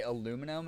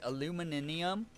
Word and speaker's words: aluminium: Oh, like how say aluminum is aluminum. Aluminum. Wait, it's illuminium, right? Aluminium is how they say it in the UK.